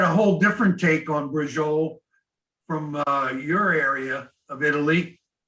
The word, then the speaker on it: bracciole: So We call them bracciole, like the bracciole, like meatballs, yeah. But the word, the name is pronounced bracciole.